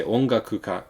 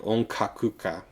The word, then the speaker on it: ongakuka: So I should be able to say ongakuka correctly. I should not say something like onkakuka with a ka instead of a ga.